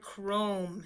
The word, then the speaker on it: chrome: it's not a name here's the word Chrome CH r this digraph blend makes the K sound / o longo per ohm and the reason it's making the long o is because an e on the end is jumping over and giving it power to say o chrome now we'll look